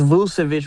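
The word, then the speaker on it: Vučević: Vauvich three to win the game. Like I I live with that. Just pronounced Vousvich, brother, bro.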